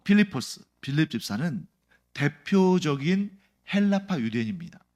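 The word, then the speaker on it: Φίλιππος: 빌립은 헬라어로 필리포스라는 이름이에요. 필리포스라는 이름을 우리말로 그냥 빌립이라고 쓴 겁니다. 근데 원래 제대로 된 발음은 필리포스죠.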